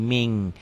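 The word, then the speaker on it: من: Tulisannya min. Min. Tanpa G ditulisnya. Dibacanya jadi ming.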